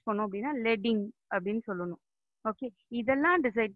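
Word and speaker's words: leading: லீடிங் சொல்லலாம், ஆனால் actually pronounce பண்ணுறது லெட்டிங்.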